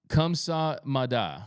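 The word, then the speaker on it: 감사합니다: Korean lesson thank you in Korea is pronounced kamsa Mada okay yo I know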